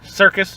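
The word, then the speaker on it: Serkis: I always forget how to pronounce his last name. Does Circus? Circus. Yeah, Yeah. Andy Circus.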